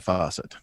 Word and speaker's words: Fawcett: And that's Fawcett, not spelled like the kitchen faucet. Yeah. If you're old enough, it's spelled like Farrah Fawcett.